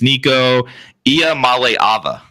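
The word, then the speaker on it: Nico Iamaleava: time we'll give one one last one it's Nico I Mal Ava that's how you pronounce his name just so you I'm okay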